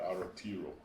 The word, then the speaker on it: Aotearoa: The Maori want us to say, I don't pronounce it right, but Aotearoa.